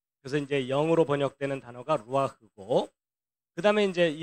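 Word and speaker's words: רוח: 요걸 그대로 읽으면 루아흐라고 하는 단어예요. 한번 따라해 보세요. 루아흐. 예, 루아흐.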